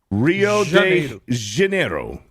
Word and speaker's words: Rio de Janeiro: From Lost Rio del Hanero Brazil. Yeah. Is that Is that how it's pronounced? Hanero. Hi de Janeiro. Rio de Janeiro.